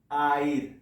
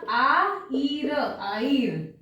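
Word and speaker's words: haïr: तो कैसे प्रोनाउंस करेंगे, ये भूल जाओ, ये कैसे प्रोनाउंस करेंगे? आइर। परफेक्ट, यहां H प्रोनाउंस नहीं होगा, आईर, आईर।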